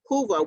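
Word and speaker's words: Whova: and you'll hear us using the term hoover hoova which is spelled w-h-o-v-a is the uh virtual fare platform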